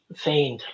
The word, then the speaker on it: feigned: that looks like fian that's me and um feigned like um like uh f-e-i-g-n-e-d it's an old